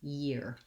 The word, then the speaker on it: year: a little bit so the main difference between ear and year is the presence of this yah sound in year and so for most